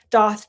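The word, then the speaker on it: Daith: Doth Day. It's pronounced Doth.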